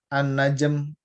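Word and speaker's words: النجم: An-najm lamnya nggak kebaca.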